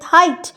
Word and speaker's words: height: Next হচ্ছে টট, টটও হচ্ছে কিন্তু এক, GH এর কোনো প্রোনাউন্সিয়েশন নেই। Same is the case with হাইট, HEIGHT।